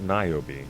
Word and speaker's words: Niobe: And it's pronounced Niobe, right? Yeah. Yes. So compare them.